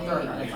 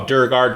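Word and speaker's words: Duergar: So you usually hear them called Dwergar. Oh, Durgar, Dwer. Well, I guess they're pronounced either way. It doesn't matter.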